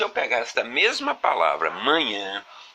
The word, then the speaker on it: manhã: Repare que na palavra manhã, nós empregamos o diacrítico de nasalização, ou tio, apenas para indicar que esse A, que essa vogal A aqui, da segunda sílaba, deve ser pronunciado com som fechado.